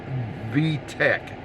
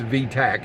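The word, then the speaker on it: V-tach: work one morning and went into VTEC, not like the car VTEC, but it's VTAC actually is how it's pronounced.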